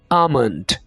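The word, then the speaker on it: almond: आप इस तरह होगा यहां पर आपने ए के बाद जो लेटर ए रहा है एल इसको अपने साइलेंट रखना है और इसको बोलना है अमन अमन ठीक है आगे हमारे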